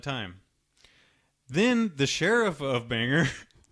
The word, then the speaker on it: Bangor: And I believe it's pronounced Banger. Banger.